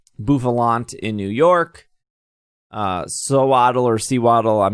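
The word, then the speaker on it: Sewaddle: it sews yes exactly i think i put too much evidence of f emphasis on the sew part so it doesn't sound natural you put the emphasis on the wrong syllable and then genesect will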